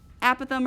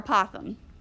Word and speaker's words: apothem: okay a stands for apothem or apothem it's debated on how to say it that is it's kind